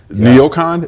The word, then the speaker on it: NeoCon: Neocon? Am I pronouncing that?